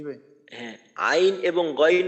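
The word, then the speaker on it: عين: গইন উচ্চারণ করার সময় আইন এইখানে দেখেন এই বাংলায় নাম লেখার মাঝে স্বর আ রস ই এবং দন্তন্য তো এইখানে যে রস ই আছে তো এই রসইর মাঝে টান দিতে হবে আইন গইন আইন এবং গাইন উভয়টার ক্ষেত্রেই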